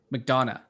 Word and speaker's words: McDonagh: movie trailer um martin mcdonald mcdonald mcdonagh don't egg i don't know how to say this name mcdonagh mcdonough mcdonough that's it who is that he